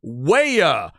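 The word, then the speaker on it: Weah: my man Glenn Davis for help on the pronunciation Timothy waya is the man who scored the goal the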